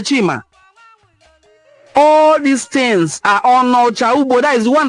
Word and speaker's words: Onitsha: They call them Onocha. The right pronunciation is Onocha, the one who lives apart, the one who is staying apart from his lineage and kinsmen.